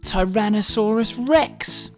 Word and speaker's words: Tyrannosaurus rex: learn all about the most famous dinosaur ever Tyrannosaurus Rex how do you say that again ty ran no saw Russ Rex it's often called t-rex for short though t-rex